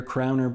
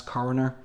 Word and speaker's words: coroner: Well, that's how it's pronounced over here, crowner, but of course in the US, coroner.